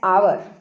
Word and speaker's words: hour: अब आगे यहाँ है, yesterday I spent dash आवर। आवर में स्पेलिंग देखिए HOUR है, स्पेलिंग यहाँ पर H से शुरू है लेकिन साउंड आ रही है आ की, आवर बोलेंगे इसको, ठीक है, हावर नहीं बोलना, आवर।